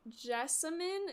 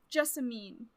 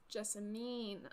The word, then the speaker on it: Jessamine: and then we have jessemine is that how you say her name Jessamine Jessamine aha that yeah you know